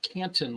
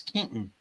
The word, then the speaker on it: Canton: It's not Canton like it's spelled. It's Canton.